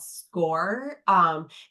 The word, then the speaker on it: Scoir: Yeah, and for Vernon Hills, we use a software platform called Score. It's spelled SCOIR.